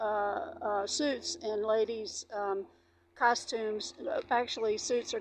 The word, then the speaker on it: costumes: suits and ladies um costumes. Actually suits are called costumes in French. They costume you don't pronounce the s in French even though it's plural.